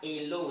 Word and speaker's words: hello: Les francophones, il faut prononcer les H là, ok? Ce n'est pas hello, c'est hello.